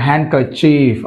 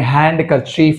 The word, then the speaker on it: handkerchief: హ్యాంకర్చీఫ్, అంతేగాని హ్యాండ్ కర్చీఫ్ అనకూడదు, హ్యాంకర్చీఫ్.